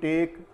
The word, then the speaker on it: take: MAKE मेक, टेक, TAKE टेक, तो इसमें words में भी गिव, GIVE गिव यानी देना, मेक यानी बनाना, टेक यानी लेना, ये वो वर्ड्स हैं जिसमें ई का उच्चारण नहीं होता।